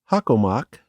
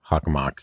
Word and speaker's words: Hockomock: At the center of the region is Hockomock Swamp. Hockomock, yeah.